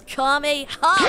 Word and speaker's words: Kamehameha: It's Kamehameha!